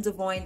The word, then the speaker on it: Devoine: got into this and I call him devoine that's his the correct pronunciation of his name so you will hear